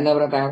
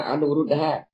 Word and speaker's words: Anuruddha: Miến Điện ấy, thì họ cứ kêu Anavrata, không, họ cứ dựa vào cách đọc xin lỗi, cách đọc của người Miến Điện, chứ thật ra là cái Anavrata không phải mà Anuruddha.